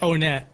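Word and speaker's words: Onett: own it you know I always pronounce it own it but like I don't try to like ever tell someone that they're pronouncing it wrong cuz no one's ever told you how to pronounce it you know but like lots of people I'd be like oh yeah it's o-net and then there's always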